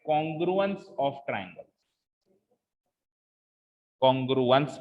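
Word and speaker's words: congruence: हाँ, कॉन्ग्रेंस नहीं, कॉन्ग्रुएंस, कॉन्ग्रुएंस, ठीक है। इसकी स्पेलिंग पे जाओ ना, देखो प्रोनाउंसिएशन में स्पेलिंग से बनता है कॉन्ग्रु और फिर एंस, तो कॉन्ग्रुएंस हो गया ना, ठीक है।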